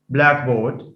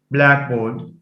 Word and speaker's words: blackboard: as in blackboard blackboard blackboard so it's not blackboard blackboard that's a compound it receives stress on the first sorry it receives stress on the first element by the way sorry